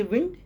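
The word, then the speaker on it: wind: होमोफोंस है और वही स्पेलिंग उसको हम वाइंड भी पढ़ते हैं। घड़ी में अगर चाबी देना है तो कहते हैं वाइंड और हवा अगर बह रही होती है तो कहते हैं विंड।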